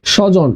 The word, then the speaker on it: স্বজন: তো দ্বিতকার হবে দত্ত ওকে একইভাবে আমি যদি বলি স্বাধীন স্বাধীন স্বাধীন হবে বফলার উচ্চারণ হবে না যেমন আছে স্বজন আছে কি সজন তাহলে এর উচ্চারণ কি